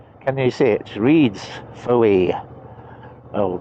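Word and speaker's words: Fowey: Reads Foy. Oh, correct pronunciation is Foy, so miss out the middle bit basically.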